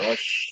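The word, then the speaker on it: רֹאשׁ: Ros. Ros es una res que aparentemente no tiene vocal.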